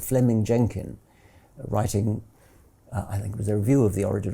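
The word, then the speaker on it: Fleeming: Jenkin was simply it's written Fleming but is pronounced Fleming um Fleming Jenkin was simply saying manifest facts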